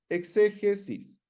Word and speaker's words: exégesis: La exégesis viene del griego, ¿cierto?, que se pronuncia igual en realidad, exegesis, que significa básicamente extraer, narrar, relatar o exponer.